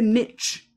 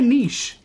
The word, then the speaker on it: niche: know why it's niche why do they say niche why it's so dumb to say Niche it's a niche it's not niche it's dumb say it